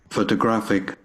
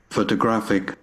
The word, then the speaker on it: photographic: Photographic. Again. Photographic. Photographic. So we have here the third syllable is stressed more strongly and more powerfully than the others.